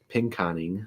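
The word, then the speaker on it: Pinconning: Bay City and pink pinkening pink coning I believe is how it's actually pronounced and then up towards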